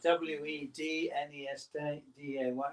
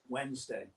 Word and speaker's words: Wednesday: if you'll say wetness there's no D in Wednesday yeah it's a Remnant